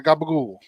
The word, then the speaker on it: capicola: So, capicola, because gabagool, like calamari in New Jersey, we would say calamads.